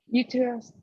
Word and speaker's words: uterus: This T sounds like a D, almost like a D.